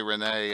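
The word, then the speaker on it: Rhennee: I know some people say Renee, Anna, but I say Rennie.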